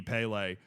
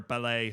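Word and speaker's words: Pelé: like, well, this guy's basically going to be Pele. Or Pele, sorry.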